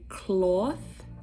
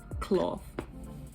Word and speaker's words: cloth: um next one is cloth in american accent it'll be cloth like a washcloth but in bermuda we say washcloth it's with a f it's like imagine c-l-o-f cloth yes serves now cerse